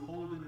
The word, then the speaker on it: Holden: that you're running into Holden rhymes with golden and by the way